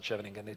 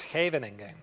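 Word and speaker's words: Scheveningen: No, no, no. It's not Shvingan. It's Havening.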